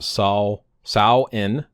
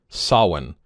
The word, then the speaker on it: Samhain: So this other one, Samhain, pronounced sow-in or sah-win. Two pronunciations here. Sow-in, sah-win.